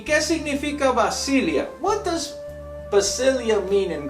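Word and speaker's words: βασιλεία: Perdón, se pronuncia Basilia en el griego. So then, the word kingdom in Matthew chapter 6, verse 33 is pronounced Basilia in Greek. ¿Y qué significa Basilia?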